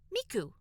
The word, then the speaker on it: Miku: at least two pronunciations the Kani for three and nine can be read as Sanu which is more or less how the average Japanese speaker will pronounce the English thank you or it can be read as Miku 39 is how people will naturally read the Arabic numerals 39 so I've seen